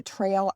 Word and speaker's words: Trael: And Joangel has developed the Trail app. It's spelled Trael.